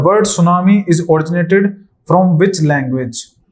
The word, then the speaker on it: सुनामी: जो आपकी हर बार इसको सुनामी कहा जाता है और इसमें टी साइलेंट होता है ठीक है आगे अगर